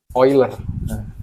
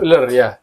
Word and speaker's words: Euler: Swiss namanya leonhard oiler dibacanya oiler tapi ditulisnya euler eer I kita bilangannya bilangan euler ya Iya kita Iya karena bau bahasa Inggris oiler bahkan orang Inggris pun kadang-kadang yang enggak tahu baca ini eer I tapi kalau udah tahu dia baca ini oiler karena ini ejaan Yas